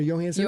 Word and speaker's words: Johansson: Johansson or Johansson? It's Johansson. Joe. Hard J. Yeah, oh, is it? There you go. Hard See J. what I'm talking about? It's crazy. Yep. Scarlett Johansson, who I first saw.